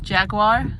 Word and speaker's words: Jaguar: um they also have jaguar or Jaguar if you depending on how you pronounce it and then um you